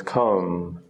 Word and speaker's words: comb: come in this case the B is silent it just becomes comb and again like these